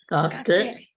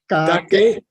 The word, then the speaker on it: Kakek: Kakek. Say again. Kakek. Kakek. Kakek. Okay. K-A-K-E-K. Kakek. Kakek. Kakek. Okay, I got a new one. Kakek. Kakek. Kakek. In Tibetan, it means the language of joy. Oh, kakek.